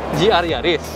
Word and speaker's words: GR Yaris: Nah, ini adalah Yaris GR. Yaris GR. Salah. Wow. GR Yaris. Oh, GR Yaris. Oke. Okay. Gitu ya. Bacanya balik ya.